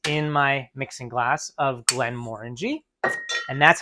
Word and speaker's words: Glenmorangie: a half ounces in my mixing glass of Glenmorangie and that's how you pronounce it guys Glides guys Glenn morangie not glamorangi not glamor Angie Glenn moringy Marie brizard a wonderful family of